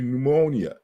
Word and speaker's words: pneumonia: I have ponia right you don't pronounce the p in English but at one time it was p p to pneumonia you know it's kind of hard to even say that's probably why it went silent because you you have